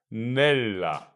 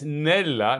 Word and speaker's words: nella: Listen, how do you think you pronounce the word nella? It's nella, not nella.